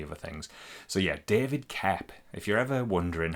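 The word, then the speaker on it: Koepp: It's K O E P, but I have heard Spielberg talk about him many times and he's always said David Cap.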